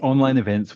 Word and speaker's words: Online Events: But yes, online events one. So you spell it online vents. UK but we say online events.